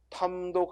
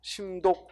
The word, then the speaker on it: 탐독: 물색하여 밤 독과 연구를 탐독 아이스 되고 탐 자가 도 군 문제로 많이 나오죠 왜냐면 탐 이라고 읽기가 쉽지 않거든 이걸 심이라고 있고 심 독 이렇게 읽어 버리면 틀리게 딱 좋거든요 그래서 도 군 문제로 탐독